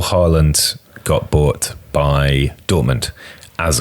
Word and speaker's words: Haaland: Haaland. Highlights... One of these days, it's just pronounced Haaland.